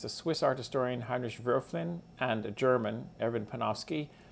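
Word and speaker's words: Wölfflin: problems with this idea of oscillating history so virflin is the o with the ohm block by the way is pronounced more or less like it was an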